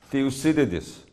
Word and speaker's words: Thucydides: 그래서 이 투키디데스는 이제 그리스 말로 우리가 투키디데스인데 영어로 미국 사람들은 영어로 발음을 하라고 했더니 Thucydides. 아무도 못 알아듣겠어요.